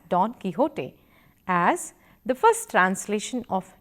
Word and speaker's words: Don Quixote: learn us from here we will pronounce don't fix it as Don Quixote as the first translation